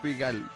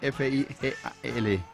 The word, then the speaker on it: Figal: ¿Cómo se pronuncia eso, deletrea, Luis Carlos? Los deletrea. Figal, F-I-G-A-L.